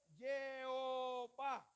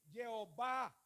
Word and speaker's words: Jehová: Jehová. ¿Sí la ven? Mira. La yo con la E y la O, Yeo, porque esta H no se nombra, no suena. Yeo, y tenemos la ba con las camas, ¿sí?